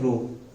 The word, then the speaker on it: rho: इसको प्रोनाउंस क्या करना है? रो.